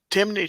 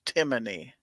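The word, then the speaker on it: Timney: course according to snob we pronounce that wrong it's timony trigger okay and now I'm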